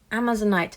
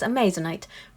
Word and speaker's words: amazonite: dried and this is amazonite you have to bear with me you might have noticed I have a problem pronouncing amazonite I sometimes pronounce it as a Mazur night not sure why that